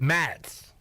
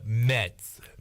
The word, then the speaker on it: Mets: York Met the Mets how do you say it it's like this you got it New York New York Mets Matt Matt's no Mets Mets mess New York they